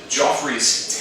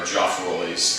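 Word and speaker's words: Geoffroy: The Joffrey's tailless bat, or Joffroy's tailless bat, if you want to pronounce it that way, has a long tongue,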